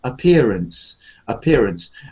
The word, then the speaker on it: appearance: So, first of all, the word appearance is one of those words like ahead, away, appear. There's no stress on the first a. It's like appearance, and then we have